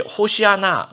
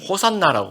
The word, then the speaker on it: 호산나: 그때 118편 25절이 이제 하이라이트가 되는데 그때 히브리어로 이제 호시아나, 이제 우리는 호산나라고 발음을 하는데요.